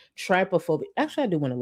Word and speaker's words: trypophobia: Oh, tryophobia. Thank you. Thank you. If I ever mispronounce something, feel free to do this. Trypophobia.